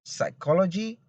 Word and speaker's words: psychology: in this case is the letter p is silent in words such as receipt course cabord psychology and some okay in these words